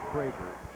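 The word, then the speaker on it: Kroeger: Todd Krager. K-R-O-E-G-E-R, pronounced Krager, at the top 14.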